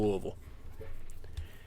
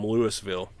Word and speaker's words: Louisville: are you doing louisville sometimes you got to pronounce it louisville if they do something dumb but the correct pronunciation is still louisville it's like one of